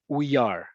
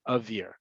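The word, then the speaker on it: אוויר: So if I were to take that out, some people could think that's pronounced uyar. Uyar is actually a word. It means he was illustrated or it was illustrated. So to ensure that that doesn't happen, we spell it with 2 vavs to make sure that you pronounce it avir.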